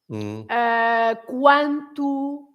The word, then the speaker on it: quanto: with a QUO, but if you have a QUA and you have lots of them, then you pronounce the U. Like, for example, in quatro, quarta-feira, quanto, etc.